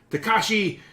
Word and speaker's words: Takashi: pronounce things other than Takashi Mikey Miki. You got Takashi pretty much right.